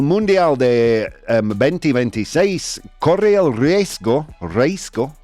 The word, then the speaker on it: riesgo: El Mundial de 2026 corre el riesgo, how do you pronounce that word properly, Dan?